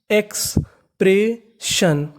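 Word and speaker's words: expression: कहने का मतलब यहाँ पे एस हमारा 2 बार है, पढ़ना 1 बार है। और यहाँ पे आखिरी में लिखा है ओवन, तो इसे पढ़ेंगे अन, लेकिन यहाँ उससे पहले आई लिखा है। आई यहाँ पे हमारा साइलेंट है, आई का उच्चारण हमें नहीं करना। तो मीनिंग बनी एक्सप्रेशन, एक्सप्रेशन, एक्सप्रेशन।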